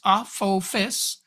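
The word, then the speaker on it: Apophis: 2004 the asteroid 99942 aphis actually pronounced Aus Aus there you go which is different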